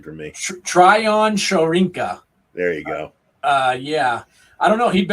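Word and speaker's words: Tryon-Shoyinka: You're gonna have to pronounce his last name for me. Tryon Shorinka.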